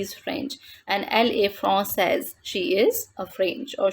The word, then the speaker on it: française: The pronunciation of this word in feminine form is française. Elle est française. She is French. And in masculine, we pronounce it like français.